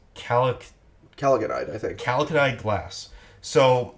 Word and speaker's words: chalcogenide: It's chalcogenide, I think.